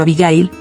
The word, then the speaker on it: Abigail: La forma en que pronunció mi nombre, no, sino Abigail, las 3 sílabas con el mismo peso, envió una calidez inesperada a través de mi cuerpo exhausto.